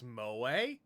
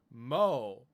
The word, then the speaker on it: moe: Can you pronounce moe? Moe. Moe. It's not mo. It's moe.